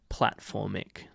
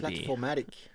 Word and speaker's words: Platformatic: Yeah, I haven't heard of Platformic DB. Platformatic. Right. I'm pronouncing it entirely wrong.